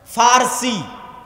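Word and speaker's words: فرس: আরেকদিকে পারস্য পারস্য মানে ফারসি বাংলায় বলে প কিন্তু ওটাই আরবিতে আছে ফারসি ফুরস কেন আরবিতে পর কোন উচ্চারণ নাই আরবিতে পর কোন উচ্চারণ নাই সেটা আমরা পারস্য বলতে ওটাই আরবিতে বলে ফুরস ফারসি যারা ফারসি ভাষায় কথা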